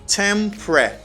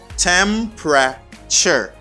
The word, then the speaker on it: temperature: You just say tempre. It seems like you got PR. Okay, PR. You say pre. Temperature. Temperature. Temperature. Temperature. The temperature. Okay? Temperature. The stress is in the first syllable.